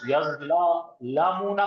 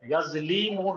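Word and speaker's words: يَظْلِمُونَ: معلوم کا صیغہ ہے۔ آپ تلفظ یظلمون کر رہے ہیں، یظلیمون ہے۔ ہاں یظلمون، جی سر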